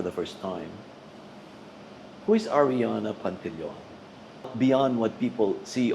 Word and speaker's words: Arianna: People say Ariana, Ariana, anything, but the way it's pronounced for me is Arianna, like Arianna, A-N-N-A.